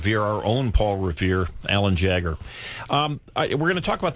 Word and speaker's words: Jagger: Mick Jagger. Mick Jagger. Alan's name, and of course you've lived with this your entire life, but has been mispronounced by so many people. Jaeger and Jaeger. Everybody's a Jaeger.